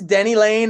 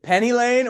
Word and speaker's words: Denny Laine: you did you choose Denny Lane as like a rhyme with Penny Lane or was it mostly because of Frankie Lane no no I kill people who call me Penny Lane Denny Lane is in